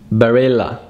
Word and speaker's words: Barilla: one, but I'm gonna give you the exact pronunciation, which is Fiat. Fiat. Fiat. Fiat 500. Fiat 500. Number seven is Barilla. Barilla. Barilla.